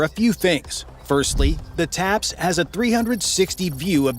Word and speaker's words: TAPS: The main way that the tank differs is that it has a brand new system called a top attack protection system, TAPS, pronounced taps.